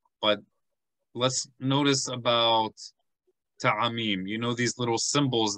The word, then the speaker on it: ta'amim: And you want to pronounce it like 3 parts in a word, not 2 parts. 3 parts. Ta, a, mim. So we want to be careful to say 3 parts of the word.